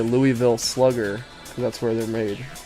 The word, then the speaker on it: Louisville: pronounces it differently like if you were to go to Kentucky and you go to Louisville Kentucky they'll tell you that's how you pronounce it but if you never been to Kentucky you might know it as Louisville some people even call it Lewisville I don't know about